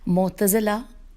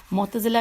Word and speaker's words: معتزلہ: جس کا عنوان ہے معتزلہ، اور آگے بریکٹ میں لکھا ہے 1 یعنی نمبر 1. معتزلہ کی ہجے ہے میم عین تے ز لام ہے.